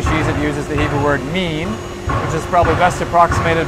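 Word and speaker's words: min: How do you pronounce that word again? Mean, M-I-N. M-I-N, mean.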